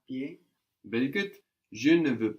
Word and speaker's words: pied: Pied. Pied. Pied. Pied. The D on the end, we don't pronounce it now. Pied.